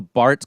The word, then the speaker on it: Baert: Baert as well, but in the original, they pronounced it Bart, and man, that E is throwing me off.